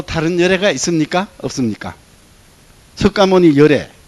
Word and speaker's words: 석가모니: 석가모니. 맞습니다. 석가모니. 석가모니가 지구에 왔습니다. 석가모니, 그 문이라고 쓰지만 모니라고 읽습니다. 그러면 이 진여의 세계에서 지구의 인간을 다스리기 위해서 지구에 왔다.